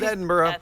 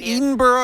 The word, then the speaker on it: Edinboro: the good work at Edinboro is it even burrow am i saying it wrong Edinburgh Edinburgh like Scotland Dixon or not yeah it's